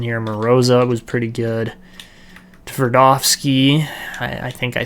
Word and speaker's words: Tverdovsky: Tverdovsky, I think I said that right. Tverdovsky, it's kind of like almost a silent T in there.